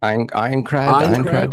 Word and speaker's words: Aincrad: Echoes of Aincrad. Is that correct, Soph? I need correct pronunciation. Yeah. Aincrad.